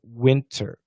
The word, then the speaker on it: winter: Well, so in the word winter, the only aspirated consonant is T, right? Winter, winter. However, we study in DDM that the T can be canceled, and some people say winter. In that case, it's all vibrated. There's no aspiration in winter, winter, winter, winter, if we say it fast.